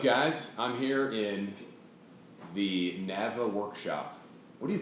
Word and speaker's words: Nava: I'm here in the Nava workshop. What do you call it? The workshop. Workshop. Yeah, man. This is my buddy Josh Nava. You pronounce it Nava? Nava. Nava. Yeah. That's Like nice. Navajo.